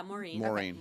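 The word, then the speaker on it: Maureen: so believe it the Marine press is that marine marine marine how do you say that yeah Morin that she was raped and murdered by cotton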